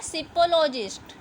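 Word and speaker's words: psephologist: अब स्टडी की जाती है ना इलेक्शन के टाइम पे कि कौन जीतेगा कौन नहीं, तो उसे क्या बोला जाएगा, यहाँ पर पी साइलेंट है, सिपोलॉजिस्ट।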